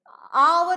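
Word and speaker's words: hour: हां नहीं बोलते हैं हा एक्चुअली साइलेंट होता है इनमें अवर बोलते हैं आर बोलते हैं ऑनेस्ट बोलते हैं ए बोलते हैं ऑनेस्ट ओ बोलते हैं ये सब क्या है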